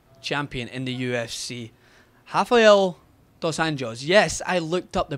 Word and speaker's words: dos Anjos: a new lightweight champion in the UFC Rafael dos angos yes I looked up the pronunciation of that word because I would say Raphael dosan hos or some other disgraceful like pronunciation of it